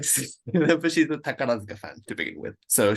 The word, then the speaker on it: Takarazuka: So I'm trying to, and apologies, I'm mangling all of my Japanese pronunciations here, but is it Takarazuka? No? Perfect. Yeah, Yeah, Takarazuka. Because it's spelt more like Takarazuka in English Roman characters.